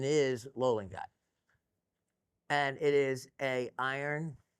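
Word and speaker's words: löllingite: Now if you're wondering I don't know if they call that umla or whatever that is or what but the pronunciation is loling guy and it is a iron arsonate.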